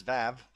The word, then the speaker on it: VÆV: I'm not sure this is how they pronounce there because both these clans are Turkish, but this is a Norwegian letter that I know how to pronounce, but I doubt they do. So they probably call it something else like VÆV or something, but it is VAV as far as I'm concerned.